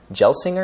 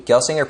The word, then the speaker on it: Gelsinger: intel ceo pat gelsinger gelsinger is how you pronounce it i don't know with the industry forecast